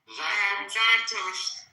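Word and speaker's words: Zartosht: Zartusht.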